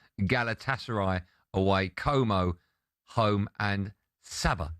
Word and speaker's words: Sabah: And Sabah, rhymes with ABBA, away.